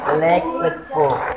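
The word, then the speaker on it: Burgerlijk Wetboek: Jadi bukan boer, bukan juga bor, tapi bur, ya. Ya. Itu ini LICK, jangan dibaca lik tapi lake. Bukan like, lake with book, ya.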